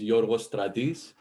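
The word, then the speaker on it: Yorgos Stratis: um as paul said my name is jorvos tradis you might see my name spelled like this but this is how you pronounce it phonetically it's a little bit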